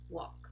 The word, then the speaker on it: walk: the ah oh so Bonk chalk talk stock walk another group where a group of words where we also do not pronounce the letter L are these words over